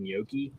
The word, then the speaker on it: gnocchi: Made gnocchi, gnocchi. Sweet Nope. potato no G is silent.